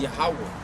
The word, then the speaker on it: Yahweh: or Yahweh. But the true pronunciation is Yahweh.